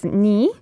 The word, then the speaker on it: 네가: So, yeah, it is written as 네, but it has to be pronounced as 니 in spoken Korean, and it means you.